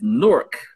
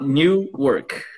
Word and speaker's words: Newark: all right and also i'm pretty sure you pronounce it you pronounce it wrong it's nork not new work you are it's one